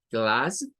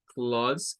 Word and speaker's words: class: Tiene dos posibles pronunciaciones. La primera parte es esta, class, con el I, ya lo habíamos visto en lo de classroom, o bien claws, con un sonido tirándole a una AO, a una A y